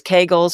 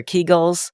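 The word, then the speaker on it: Kegel: weakness and what about I know people pronounce it too different ways Kagel or keegel I've heard through the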